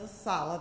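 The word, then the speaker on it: ASALH: is our honor and we refer to ourselves as a solid that's how we pronounce our acronym to be asked to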